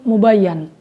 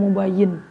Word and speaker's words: مبين: Tapi ada yang membacanya dengan fathah juga, mubayyan. Mubayyan itu berarti maknanya yang jelas, berarti yang tidak mujmal.